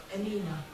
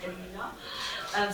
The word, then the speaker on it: Emina: In Turkish, we do not have silent letters, so people often call me Emin, but it's Emina.